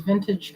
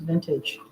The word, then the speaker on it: Vintaj: I used to think they said their name is actually just vintage. And so I've been calling them Vintage because it's spelled Vintaj. So for so many years I called them Vintage. That's just how it looked to me. Just looked at the spelling. It looked like it should be named Vintage and not Vintage.